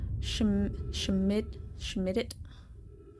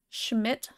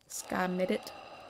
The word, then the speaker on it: Schmidt: Schmidt can be pronounced as if the D isn't there.